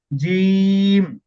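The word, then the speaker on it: جيم: জি না জিম না জিম না জিম বলতেছেন হয়তোবা শোনা যাচ্ছে জিম জিম জিম না জি একটু দীর্ঘ করে জি একটু আওয়াজটা জমা জমাট হবে মানে ছেড়ে দিবেন না আওয়াজটা একটু জমা করে বলবে জি জিম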